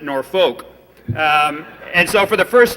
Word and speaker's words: Norfolk: to was down in Norfolk and I'm from South Dakota originally and when you see a word like that you would spell it or pronounce it nor folk and so for the